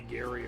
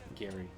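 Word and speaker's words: Geri: has to be uh Gary just because his name his name is just it's spelled g-e-r-i yeah but it's pronounced g-a-r-y hi I'm Gary I'm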